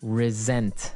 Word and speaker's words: resent: said I resent that resent resent okay now this is spelled exactly like resent like with an S right that's right r s e n t but you pronounce it like a z mhm resent resent that